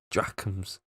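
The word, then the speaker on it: drachm: drops and a half how do you pronounce that dracons yeah i think that the k is silent how do you spell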